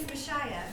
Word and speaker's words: Mishaya: with um phonics uh it's like Messiah with a sh in the middle of it but it is a